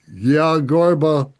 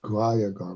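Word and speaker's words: Guhyagarbha: Forgive my mispronunciation of the Gyagarbha Tantra. Guhaya Garba, I believe. Guhaya Garba. Rahaya Garba. Thank you. That's how I pronounce it.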